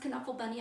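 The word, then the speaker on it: Knuffle Bunny: it is actually pronounced can uncle bunny I heard him interviewed it comes from the Dutch so they pronounced the K I thought about this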